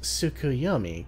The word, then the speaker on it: Tsukuyomi: you can claim as a table it is pronounced tsukuyomi correct a figure from far eastern mythology no